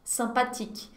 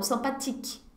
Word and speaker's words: sympathique: Na verdade, porque todas as palavras são oxítonas em francês, só que o e no final não é pronunciado. Então, sympathique, tic. É como se terminasse com tic, ok?